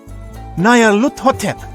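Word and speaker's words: Nyarlathotep: This phrase is pronounced Nayarhut, or more likely, Luthotep. Nayarluthotep, that's it!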